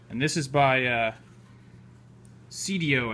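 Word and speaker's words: Seidio: this is by uh cdo i think is how it's pronounced s-e-i-d-i-o so i think that's the correct pronunciation and it's awesome i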